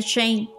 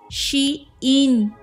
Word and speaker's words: Shein: Y hablando de Shane, que spoiler alert, no se dice Shane, porque es Shein. Como ella cool, Shein, o ella está Shein.